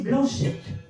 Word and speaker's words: Blanchet: Blanchet, à prononcer Blanchette, comme Payette.